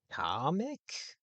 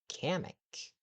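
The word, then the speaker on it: Kamek: Comic. Did he just say comic? Comic. For a long time, I've been pronouncing his name as Kamik, not comic.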